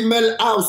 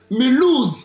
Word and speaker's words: Mulhouse: J'ai dit Melhouse, c'est Mulhouse en France.